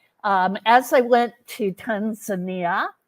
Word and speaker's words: Tanzania: as I went to Tanzania uh Tanzania is how they pronounce it I brought my medical